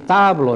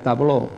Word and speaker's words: tablo: Sempre s'accentua, es pronuncia amb forta la síl·laba penúltima. Per tant, aquí en aquest cas, tablo, hem de dir tablo, no direm tabló, tablo.